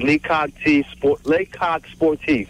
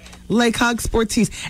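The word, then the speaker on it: Le Coq Sportif: The correct pronunciation is Lecoq Sportif. Lecoq Sportif.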